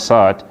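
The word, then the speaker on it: ص: Now when you pronounce sad, your tongue it dey just there below your teeth.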